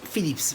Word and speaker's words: Phillips: Philips. Faut bien prononcer le S à la fin.